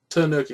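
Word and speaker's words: Tanooki: Warrior tanoki said Tanuki suit or kanuki suit Tanuki suit I said it was a t uh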